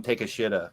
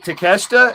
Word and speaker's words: Takeshita: um uh uh takeshita i always want to call him take a shitta because that's the way his name is spelled take up but takeshita is a star that